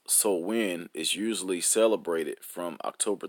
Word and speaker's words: Samhain: in modern times Samhain a Gaelic word pronounced so when is usually celebrated from